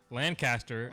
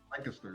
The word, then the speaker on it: Lancaster: Lancaster, yeah. Lancaster. Okay. I could do that. It's like you have to make the C a K.